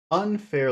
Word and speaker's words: unfair: Which syllable has all of the sound? Unfair. Unfair. un, That would be unfair, unfair. Unfair. Is it unfair or unfair? unfair, Listen to me say it.